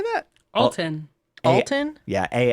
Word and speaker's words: Alton: TOS Cobble what how do you say that Alton Alton yeah a l t o n to